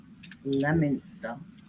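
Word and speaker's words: Leominster: say it like that no it's spelled Leo Minster and it's lemoner okay let's go on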